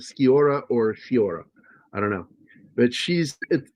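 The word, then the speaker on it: Sciorra: It's Fiora because it doesn't have an H. Fiora.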